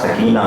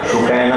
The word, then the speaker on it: سکینہ: دوہرا دیجیے گا کہ تلفظ سکینہ کا سکینہ ہے، سکینہ نہیں.